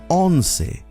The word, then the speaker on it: once: more sophisticated siente it's 11 o'clock son las honse now it's a spell like the word once in english but it's pronounced on it's 12 o'clock solas dossi